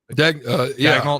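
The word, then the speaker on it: Daigneault: Is it Dagnall? Dagnall.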